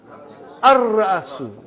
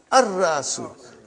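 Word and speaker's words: الرأس: How will you pronounce? Ar-Ra'asu. Not Al. Ar-Ra'asu.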